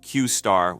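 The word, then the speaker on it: Q*: originally this model was known as Q asterisk pronounced qar within open AI this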